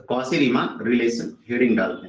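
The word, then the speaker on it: Cauchy: था कौसी ठीक है इसको ऐसे नॉर्मली कौची पढ़ सकता है लेकिन कौसी बोलते हैं रिमान ये दो लोग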